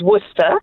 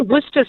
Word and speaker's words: Worcester: after the Earl of Worcester Worcester you know yeah and so are you pronouncing it you're pronouncing it with a V rather than with a W okay so you're giving